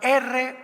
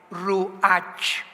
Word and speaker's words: ruach: la palabra como suena, R-U-A-C-H, Ruach, que es la palabra hebrea que significa espíritu, y se pronuncia la CH en el hebreo como J, Ruach, Ruach, como J, Ruach.